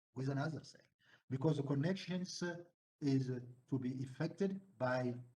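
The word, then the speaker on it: connexon: Gap another another connection reads this c-o-w-n-e-o-x-o-n is a spell is pronounced as connection each connection is made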